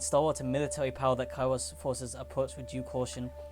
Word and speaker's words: Kairos: You know, what if it's Kairos and I've been saying it wrong? It's not Kairos. No, it's Kairos.